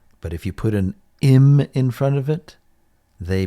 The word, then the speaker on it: im: Our next prefix, if you just look at it as a standalone, you might pronounce this I'm. I'm. But as a prefix, it is pronounced im.